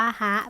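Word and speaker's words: は: ตัว นี้ นะ คะ ถ้า ปกติ มัน จะ อ่าน ว่า ฮะ แต่ พอ อยู่ ใน รูป พยากรณ์ เรา จะ ใช้ คำ ว่า วะ แทน นะ ต้อง จำ นะ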